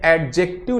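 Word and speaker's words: adjective: ठीक, अब एक चीज में और ध्यान दीजिए, जब भी हम एडजेक्टिव का प्रोनाउंसिएशन करते हैं तो जब भी डी के बाद जस्ट बाद जे आ जाए तो वहां पे डी साइलेंट रहता है। ठीक है, तो ये एडजेक्टिव ना होके एडजेक्टिव हो जाता है।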